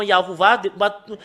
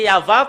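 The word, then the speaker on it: יהוה: C'est là que ça vient le nom Yahuwah. Les humains l'ont changé selon leur volonté. Normalement, c'est Yahva. Quand on le prononce, ça devient Yahuwah.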